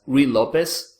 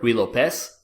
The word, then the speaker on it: Ruy Lopez: about the Spanish opening, also known as Ruy Lopez or Ruy Lopez, however you want to pronounce it.